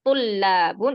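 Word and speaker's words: طلاب: Kalau tulabun itu jamaknya. Kalau tolibun itu mufradnya. Berarti setelah to-nya ada matnya. Itu kalau mufradnya tolibun. Kalau jamaknya to-nya itu domah, bukan fathah lagi.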